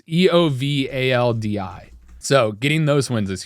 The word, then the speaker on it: Eovaldi: I don't know how to pronounce it. It's Eovaldi.